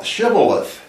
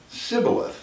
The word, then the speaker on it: Shibboleth: say to him then say shabbat Shibboleth Shibboleth and he would say Sybil ahthe or he could not pronounce it right then they would take